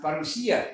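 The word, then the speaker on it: παρουσία: That Greek word coming, we do this for our Greek friends out there who know that that's pronounced parousia in Greek.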